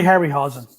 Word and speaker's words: Harryhausen: of the ray hassell ray uh i can't pronounce these ray harryhausen yes it's okay it's okay i know you're